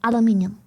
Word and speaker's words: aluminium: So if you wanna be technical about it, if I'm right, it's aluminium. But either way, both are correct, genuinely, officially. As last time I checked, the genuine official pronunciation goes both ways. Like, it is factually, scientifically, professionally correct to use either or as pronunciation.